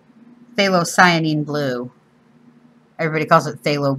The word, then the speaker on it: phthalocyanine: Even though it's called phthalocyanine blue. Everybody calls it phthalo blue, but the entire word is phthalocyanine. Yeah. Phthalocyanine. The P is silent.